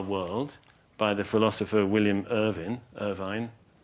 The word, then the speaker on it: Irvine: Aha, The Moments of Insight That Shape Our World, by the philosopher William Irvine, and Irvin, I think, actually, he pronounces it.